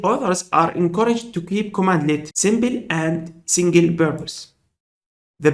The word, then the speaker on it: cmdlet: A PowerShell command is called CMDlet, pronounced as commandlet.